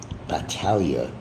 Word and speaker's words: Battaglia: Battaglia. Pronounce it right next time.